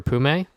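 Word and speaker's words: Poome: for contracts and Stunt for Pume, or Poom supposedly. He's supposed to pronounce it like that, but yeah, like I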